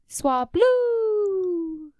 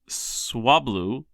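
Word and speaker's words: Swablu: Swablau cotton bird Pokemon. You said it wrong. Swablau. Cotton bird Pokemon. Say it right. Swabloo loves to make things clean.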